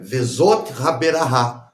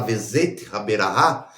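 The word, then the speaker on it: Vezot Haberakhah: Vezot Haberahá. Mas peraí, não se pronuncia et?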